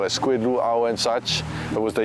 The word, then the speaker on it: luau: hawaian language speakers perspective so Lu it's often mispronounced as luau right which isn't accurate at all so keep that in mind not luau but luau sounds more haai why why did I choose